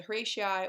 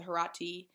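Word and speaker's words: Horatii: or you often hear sometimes they pronounce the herati i think it's really how you learn to pronounce the word more than which one is correct um so horatia herati whichever one you'd like to use and this story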